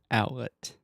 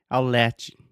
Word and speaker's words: outlet: pronunciation of the word outlet I cannot tell you how many times I have heard my students say aisle latch I'll chill edge out so that it's like